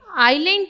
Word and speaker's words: island: इसमें S silent है, तो क्या पढ़ेंगे इस वर्ड को? आइलैंड। आइलैंड कहते हैं जजीरा।